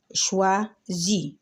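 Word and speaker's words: choisit: شوازي. شوازي يعني هي تختار هذا البنطلون، وطبعا الحرف الأخير إحنا ما بننطقوش في اللغة الفرنسية.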